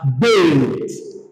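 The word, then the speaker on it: בֵּית: So this is pronounced as bait, bait, bait, bait.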